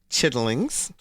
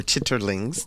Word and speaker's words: chitterlings: yes Grill promised land chitlings or chitterlings depending on your your pronunciation kitchen and we're not